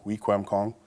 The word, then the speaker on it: Wikwemikong: in my hometown is wikwemikong weak hong kong uh ontario as it's uh properly pronounced um and you know